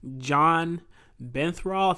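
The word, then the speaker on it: Jon Bernthal: he was still an awesome character regardless um john benthrall this is how you say his name he's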